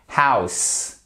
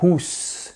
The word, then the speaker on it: house: louper c'était le Edge House et c'est pas housse c'est pas housse c'est pas housse c'est house donc là il fallait bien faire le heage et bien prononcer le O U correctement ou getting c'est comme